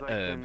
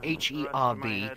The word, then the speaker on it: herb: Even though it's spelled with an H, it is a silent H in herb. So H-E-R-B, it's herb, not herb.